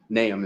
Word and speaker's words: Nahum: There's a lot of pronunciations of it. Nahum is the correct way.